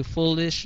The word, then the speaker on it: foolish: này cho hay đó, bạn nhớ là bạn phải đọc cái chữ ly ra trước khi bạn đọc chữ s. Ly sh. Foolish. Okay. Đừng có đọc là foolish. Chưa gì đã nhảy ra chữ sh rồi đó, thì cái chữ đó nó không còn hay nữa. Đừng có đọc là lish, lish, lish, mà phải đọc ra chữ ly trước. Okay.